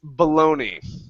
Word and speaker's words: bologna: We pronounce this bologna.